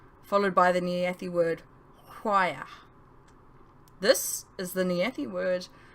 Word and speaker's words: Hwaya: Hwaya. Hwaya, we chorused, with a slight grumble on the and with a cadence from high to low on the last syllable.